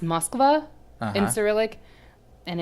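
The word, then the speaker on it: Москва: that's how it's spelled in Cyrillic so it's pronounced Moskva in Cyrillic and it's Moscow for the one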